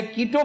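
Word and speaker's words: Quito: लेकिन है नहीं हमने तो वह पुकारना है जो इसे अहले कीटो पुकारते हैं इसी तरह ही साउथ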